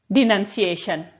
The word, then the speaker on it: denunciation: Next word है हमारा डिनंसिएशन। डिनंसिएशन, डिनंसिएशन का स्पेलिंग देखो, DED, नन, NUN। इसको तोड़ के बोलोगे ना तो याद जल्दी हो जाएगा। डी नन, CA और शन का TION, डिनंसिएशन, है ना।